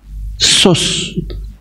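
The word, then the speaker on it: סוס: Kemudian nama Yunani kalau diibran waduh ndak itu kata sus ya samek wau samek itu bacanya sus.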